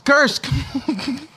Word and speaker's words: Kursk: It's not that hard to pronounce. Kursk. Well, you pronounce it the opposite of the way it's spelled. Goddamn it. Doesn't matter. It's Kursk.